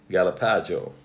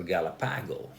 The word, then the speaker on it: Galapago: let's check this one galapagio or Galapago depends on which part of the world you're in and you'll pronounce it like that so a green